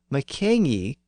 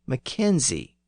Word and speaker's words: Mackenzie: And over time, people in the south of Scotland thought the Highland clan name was pronounced with a Z sound at the end. So Mackenzie became Mackenzie.